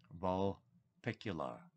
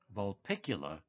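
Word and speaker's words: Vulpecula: the constellation that she found the pulsar in vol picular vulpicula is the correct pronunciation next is margaret geller margaret geller astrophysicist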